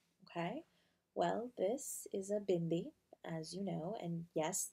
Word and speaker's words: bindi: well this is a bindi as you know and yes that's how it's pronounced not bindi the d sound is a duh not a hard duh nice good yeah that's